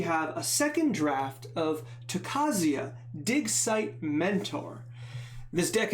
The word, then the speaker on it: Tocasia: at the takasia uh the name you always mispronounce which I do I used to say toscia I guess I'm missing I'm mixing the S and the C but added a couple